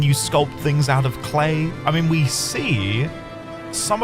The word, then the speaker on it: Clea: I've been saying clear, but they pronounce it clay.